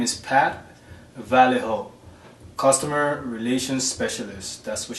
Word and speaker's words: Vallejo: uh the person i had contacted uh i mispronounced the name i was calling him i was calling her validco but it's valejo v a l her name is pat vallejo customer relations specialist that's what she puts as